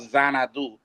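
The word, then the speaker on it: Xanadu: And um this mansion the it's now called Zanadu uh spelled with a X and uh uh this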